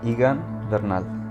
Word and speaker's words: Egan Bernal: But I need the pronunciation of your name. Egan Bernal.